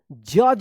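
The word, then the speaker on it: judge: जज पढ़ेंगे। डी जी एक साथ है तो ज उच्चारण होगा।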